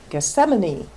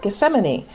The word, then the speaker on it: Gethsemane: to the Garden of Gethsemane that's always a fun one to say because it's spelled differently than it sounds so in Matthew we read then Jesus came with them to a place called Gethsemane and said to the